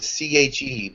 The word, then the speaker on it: Che: Tinch, and then the second word is CHE, but it's pronounced Che.